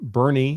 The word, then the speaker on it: Bernie: So I see someone recommending in the comments, I reach out to Bunker Branding in Bernie. You spelled it wrong, but that's how it's pronounced. Bernie, Texas.